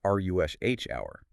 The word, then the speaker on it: rush hour: Remember that with compound nouns like this, the stress is almost always on the first word. So it's ruh hour, not rush hour.